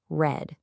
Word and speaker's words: read: Now, it's spelled the same, but you pronounce it read.